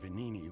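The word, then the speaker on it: Venigni: My friend, the inventor Vanini, went to stop them, but he never came. The G is silent.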